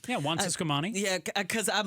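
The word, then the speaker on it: Juan Ciscomani: Yeah, Juan Siscomani.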